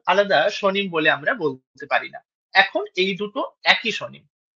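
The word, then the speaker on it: পাণিনি: এইযে পারিনি এইটা যখন আমরা সংস্কৃতে উচ্চারণ করি তখন এই যে মূর্ধন্য এর উচ্চারণটা আমরা দেখলাম অনেকটা ওই র এর কাছাকাছি আসছে। পারিনি বলছি আমরা। পানিনি বলছি না।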